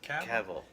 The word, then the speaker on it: Cavill: Cavill. Cavill. Thank you. I always want to say Cavill, and it's like that's not right, dude.